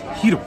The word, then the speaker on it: gyro: Hyde says it's pronounced Hiro.